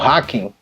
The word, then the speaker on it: Haken: O problema é que as pessoas começaram a pronunciar o nome da banda errado. Então, direto chamavam como Haken.